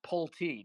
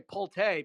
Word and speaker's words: Pulte: By the way, my name is pronounced Pulte. Not that I give a shit, but hilarious that you called me that. Nobody can pronounce it, but I hate when people say Pulte because then it sounds French, and I'm not French.